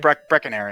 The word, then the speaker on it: Brecconary: How you pronounce that? Is it Brecconary? Brecconary.